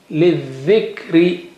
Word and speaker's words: للذكر: Lam has no sign, no sound. للذكر من الذهب.